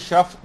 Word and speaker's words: شفع: شفا نہیں، شفع ہے.